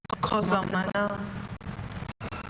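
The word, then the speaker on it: cocillana: Kosalana. Kosalana. Kosalena. Kosalena. Kosalana. Kosalana. Kosalena. You say it again? Kosalana.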